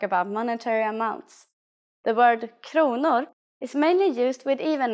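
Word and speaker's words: kronor: money in Swedish in Sweden the currency is konor please pay attention to this first pronunciation konor let's try to say prices in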